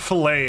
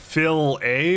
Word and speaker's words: Chick-fil-A: I really like Chick-fil-A I say filt no no not filet it's like Fil A or something I don't know what it is it's it's and they